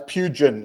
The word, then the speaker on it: Pugan: It's Pugan, like plugin.